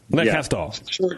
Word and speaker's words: Le Castor: You pronounced the S too hard. Le Castor. How do you say it? Le Castor. Le Castor. Short R.